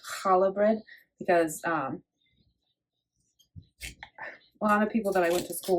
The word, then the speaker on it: challah: um they would pronounce it as kala bread.